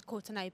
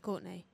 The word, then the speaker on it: Courtenay: It's because it's spelt the Irish way. That's why people just... Because the way it says, yeah, it's Courtenaaay, but it's pronounced Courtenay. So please don't say Courtenaaay.